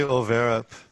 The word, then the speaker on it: Arup: But how do you pronounce it, please? I just say Overup.